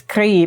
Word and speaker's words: Gris: Is it gris or is it gris? Because I feel like it can't be gris. It's gris because it's about the color gray, right?